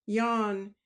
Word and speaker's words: Jean: But Sylvester was worried because a maid called Jean, which Breton pronounce Yan, did not come down below.